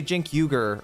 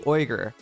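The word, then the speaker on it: Uyghur: Most people say Jin Yuger or Unger or something like that. It's actually Oer.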